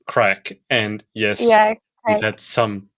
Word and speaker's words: craic: having any crack um so it looks like craic but it's pronounced crack and yes we've had